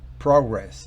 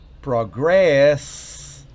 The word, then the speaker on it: progress: Si decimos progress, estamos diciendo progreso. Recuerde. Acento en la primera sílaba hace referencia a un sustantivo. Acento en la segunda y última sílaba hace referencia a un verbo.